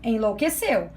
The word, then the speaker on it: enlouqueceu: Enlouqueceu. Qual é a sílaba mais forte de enlouqueceu? Enlouqueceu é o seu.